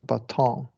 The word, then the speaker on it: baton: T only changes to glottal stop before N syllable if the syllable is therefore button is pronounced button, but baton is pronounced baton.